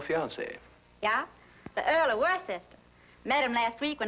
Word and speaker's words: Worcester: Well, Freddie calls it something else too, Doc. But it's spelled W-O-R-C-E-S-T-E-R. Worcester. Oh, yes, I see, yes.